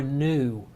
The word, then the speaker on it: nu: So it's looks exactly like our letter V, but it is the Greek N or nu. Nu. N-U. Nu is how it's pronounced.